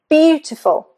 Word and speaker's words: beautiful: So, beautiful, the first, fine.